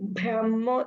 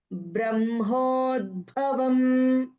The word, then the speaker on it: ब्रह्मोद्भवं: Brahmodvam, in that ba sound is less. Okay, in the sense like it's so not deeper. No, it is very lightly you have to pronounce.